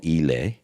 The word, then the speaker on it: Islay: Anyway, and he told me, as a rule of thumb, anything from the Isle of Yle which is spelt Islay, and you'll see quite a few of them in the single malt section of your whiskey shop.